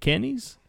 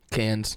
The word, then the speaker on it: Cannes: Film Festival the king candis candis i can never pronounce that one right the Cannes Film Festival no no Cannes Cannes a serial killer